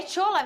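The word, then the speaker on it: Shola: é o tchola é tchola mesmo que fala olha eu falo porque primeiro ele é nigeriano ele se a o nome dele é assim que se escreve s h o l a aí eu pronuncio dessa maneira é um atacante nigeriano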